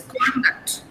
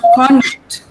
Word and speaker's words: conduct: So you pronounce this conduct. Okay, this is pronounced conduct. Conduct. See the difference? Conduct. I'm stressing duct. So I say conduct.